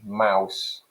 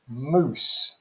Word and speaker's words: mouse: middle english pronunciation wife and modern english mouse middle english pronunciation moose so the best way